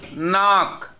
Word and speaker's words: knock: It is knock.